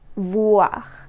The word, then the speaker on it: voir: The sound wa can be spelled with the letters O-I. The way you pronounce this sound is the same way as the word what in English, this wa sound.